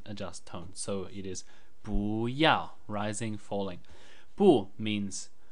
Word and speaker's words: 不: the basic chinese word Booya Booya which means don't or do not do something so here's a brief explanation about this word firstly the first character is usually pronounced boo in the fourth tone it means not but